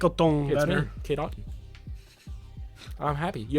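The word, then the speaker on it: Otton: his respect Kade auton Aon I was sing aong it's Aon Kade Aon hi I'm Kade Aon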